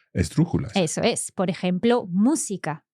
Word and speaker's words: música: Por ejemplo, música. Música. So música, third last syllable pronounced.